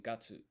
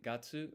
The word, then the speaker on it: 月: And as you may have noticed, each month just ends in gatsu, gatsu.